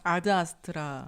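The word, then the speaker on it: Ad Astra: 한국 제목은 에드 아스트라인 원래 발음은 그게 아니라면서요 아드 아스트라 아드 근데 이제 아들 아스트라 아 아니요 이게 왜냐면 라틴어라는게 아니라 발음이 아들인 거죠라고 하더라고요 근데 우리는 미국식으로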